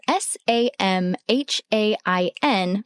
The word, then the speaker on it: Samhain: That's spelled S A M H A I N, but said Samhain.